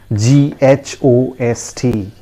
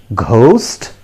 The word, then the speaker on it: ghost: tell me come on do you pronounce it as ghost yes i'm sure you pronounce it in that way but friends i tell you it is not pronounced in that way that is the wrong pronunciation the correct pronunciation is ghost girls repeat after me it is ghost remember there is no sound actually all right so we cannot pronounce it ghost that is a wrong pronunciation once again please repeat